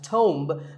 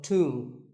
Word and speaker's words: tomb: A similar sounding word is tomb. It's often wrongly pronounced as tomb, but the B is silent and the O is pronounced with an oo sound. So tomb.